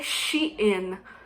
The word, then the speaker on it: Shein: elle me dit que les américains les anglais lui avait dit que ça se prononcer chine donc on va appeler